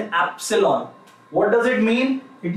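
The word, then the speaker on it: epsilon: ये जो है इसे हम प्रोनाउंस करते हैं एज एप्सिलॉन. What do we call it? We call it एप्सिलॉन.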